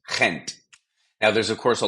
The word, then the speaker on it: Gent: of Belgium which is Flemish similar to Dutch it's pronounced Kent now there's of course